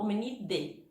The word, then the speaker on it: Hominidae: Toda vez que eu tenho o A e o E junto, eu pronuncio com som só. Eu falo hominide, certo?